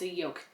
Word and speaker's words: yoke: there's no there's no there's no l don't pronounce the L I guess I'm doing